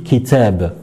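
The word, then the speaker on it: كتاب: les autres lettres et bien il faut la prononcer donc si par exemple je vous dis kitab qui t'aime que je vous écris ici et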